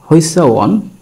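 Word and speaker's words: 회사원: ও ই যদি সামনে থাকে, এই যুক্ত স্বরবর্ণটা ও ই উচ্চারণ হয়। তাহলে হিউতের উচ্চারণ এখানে হ, ও ই সামনে আছে, তার মানে হই। এর সাথে দিলাম সিউত, তার সাথে আকার, তাহলে হচ্ছে হইসা, হইসা। এরপরে দিলাম উ এবং অ, শেষে নিউন, উচ্চারণ হবে ওয়ান, হইসা ওয়ান।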